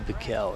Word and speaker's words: Bickell: Or is it Bickell? We'll call him Jesse Bickell. That's the pronunciation we're getting from the PA announcer.